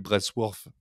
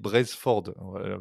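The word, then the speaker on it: Brailsford: de du scandale récent c'est David brworth qui je vais le offire c'est David brezford bien prononcer son nom qui est devenu manager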